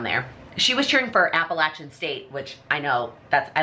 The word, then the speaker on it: Appalachian State: Tennessee somewhere around there she was cheering for Appalachian State which I know that's I learned from her that's how you pronounce it when they were like beating people